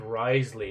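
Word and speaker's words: Wriothesley: It's like Risley or so. Risley. That's it.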